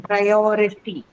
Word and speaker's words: priority: On or because it has ity as the suffix, and Suffix. this is the one which makes the stress fall on the syllabus, the syllable preceding the suffix, right? Ity. So or is going to be stressed in this case.